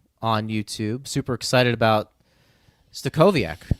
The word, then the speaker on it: Stachowiak: Super excited about Stachowiak. I'm pronouncing that correctly? Right? Stachowiak, that's right.